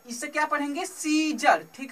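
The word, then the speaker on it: Caesar: ठीक है, सीजर, यहाँ पे सियाजर नहीं पढ़ रहे हैं। सी ई के आगे क्या है, ए, ई के आगे क्या है, ए साइलेंट है, तो इससे क्या पढ़ेंगे, सीजर।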